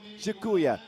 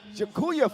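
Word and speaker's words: dziękuję: Jakuya. Jakuya for the weather.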